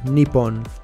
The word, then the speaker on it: Nippon: uh it's called team Nippon uh Team Nippon which is basically um how Japanese will pronounced Japan over there so we'll